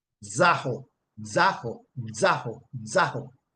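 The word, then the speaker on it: ζάω: Greek to English as Z-A-O, and it is pronounced zaho, zaho, zaho, zaho, right?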